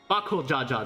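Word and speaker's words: Bakool Ja Ja: bakul bakul Jaa that's how you pronounce his name the third promise remembers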